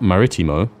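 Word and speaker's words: marítimo: an O Maritime marimo we also have an accent on the first I of marimo when you see a dash Mark above a letter in Spanish that means we stress that letter it's not maritimo it's maritimo anyway Timor right I can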